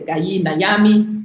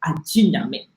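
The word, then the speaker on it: Gye Nyame: In the Akan language, GY, sorry, is GY, J. And actually, you could actually use the full inflection Aji in some of the Akan dialects. Aji Nyame, Jise Nyame.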